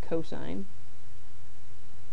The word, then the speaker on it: cosine: Now the second trig ratio we are going to discuss is cosine of a abbreviated as cos but pronounced cosine and this is the adjacent side divided by the hypotenuse.